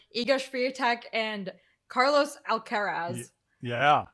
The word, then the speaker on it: Alcaraz: free tech and carlos alcaraz yeah very uh difficult to pronounce spanish name there because you i want to say alcatraz obviously but it was like